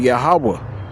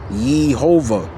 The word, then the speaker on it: Yahawah: cap, Strongs H 3068, it's the word Yahawah, which means what? That's the name of the Most High, Yahawah. All right? It's not Yhovah.